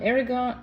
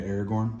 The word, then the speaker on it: Aragorn: that did kind of stick together though um Aragon how do you say his name yeah Aragorn Aragorn um the royalty guy right the big